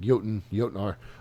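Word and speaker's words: Jötnar: Collector's Editions, including the Jotnar Edition. I'm pretty sure that's how you say it, like Jotnar, with a replica, 16-inch replica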